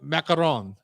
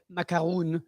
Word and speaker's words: macaron: That's how you say it. Macaron. You Yeah. don't say macaroon. That's that's- English version. That's the English version, but it's also, I think, is a different kind of cookie.